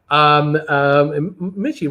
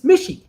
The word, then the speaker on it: Mishy: Mishy rhymes with fishy. Mishy. How are you making this so hard? It's Mishy.